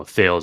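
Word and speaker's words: Thales: there's another good quote by thalis you know thals is how you say it in English CH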